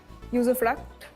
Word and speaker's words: usufruct: Usufruct. Am I pronouncing it correctly? You are.